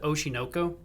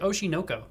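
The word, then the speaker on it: Oshi no Ko: They pronounce it Oshinoko, like all Oshinoko. one word, and I don't know why.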